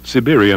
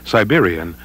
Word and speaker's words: Siberian: In this presentation, the traditional Russian pronunciation, Siberian Husky, is used throughout. The pronunciation Siberian is equally acceptable.